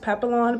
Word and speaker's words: Papillon: just received a Louis Vuitton I think it's pronounced Papillon Papillon back in the mail um I ordered